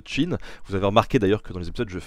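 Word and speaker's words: Qin: ça s'écrit cas y est mais ça se prononce chine vous avez remarqué d'ailleurs que dans les épisodes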